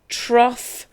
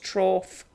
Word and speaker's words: trough: rough tough cough truf I don't know if you know truf but what trough means is it's a place that animals eat from in fact I think it's pronounced trough yes it's a trough excuse me so ruff